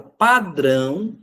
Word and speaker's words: padrão: A palavra padrão mantém o acento por ser uma oxítona terminada em ditongo nasal ão. Padrão, esse ão, segundo a afirmativa, ele representa a sílaba tônica oxítona com som nasal, por isso que é acentuado.